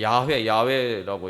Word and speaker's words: 야훼: 여호와, 정확한 발음은 이제 야훼라고 이제 이야기하는데, 그게 이름의 의미가 무슨 의미입니까?